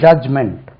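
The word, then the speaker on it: judgment: இ சேர்த்து கூட சொல்லலாம் ஜட்ஜ்மென்ட் அது ஜட்ஜ்மென்ட் இல்ல ஜட்ஜ் சொல்லக்கூடாது ஜட்ஜ் ஜட்ஜ்மென்ட் டி உச்சரிக்கக்கூடாது ஜட்ஜ் ஜட்ஜ்மென்ட் இதே மாதிரி நிறைய வார்த்தைகள்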